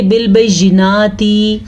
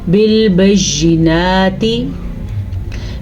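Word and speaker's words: بِالْبَيِّنَاتِ: گے ارسلنا بالبینات، بالبینات، نون کھڑی زبر نا، تا زیر تی، تا کو لمبا کیا تو کھڑی زیر بن جائے گی، یعنی کہ بالبینات ایسے نہیں پڑھنا، آپ نے پڑھنا ہے بالبینات۔ وَأَنزَلْنَا مَعَهُمُ الْكِتَابَ، نون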